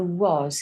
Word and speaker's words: was: So was, if you remember, we have a W. We have this one, an A and an S. But the A says the O sound.